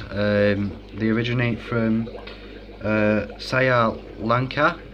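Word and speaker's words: Sri Lanka: they originate from uh sa Lanka um is I think is the way you pronounce it um so generally they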